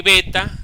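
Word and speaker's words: בית: en en castellano okay en griego se le dice beta y en hebreo se le dice bet Okay bet así como como si fuera un como si fuera eh una cabrita bet ya fíjense que tiene eh un acento en la e acá bet Entonces ese es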